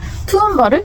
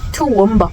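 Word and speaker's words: Toowoomba: 제가 말씀드린 그 W의 발음을 여기에 적용을 시켜본다면 투원바 이렇게 돼요. 그러니까 사실상 한글로 적어보자면 투원바가 돼요.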